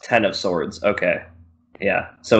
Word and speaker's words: X of Swords: Oh, pronounced Ten of Swords. Okay. Yeah, so it's Ten of Swords, but it's an X in the title.